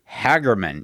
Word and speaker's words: Hagerman: pronouncing it correctly, that the locals call it Hagerman, even though I maintain it is spelled Hagerman.